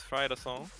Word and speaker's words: Fridas Alle: however, to Monster versus Fridas Alle. I'm not sure how exactly you're supposed to pronounce that, but I'm getting info that it's Fridas Alle, so that's how I'm gonna be saying it.